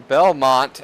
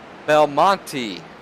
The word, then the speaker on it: Belmonte: Justin Belmont, as we were calling it, is actually pronounced Belmonte or Belmo for short.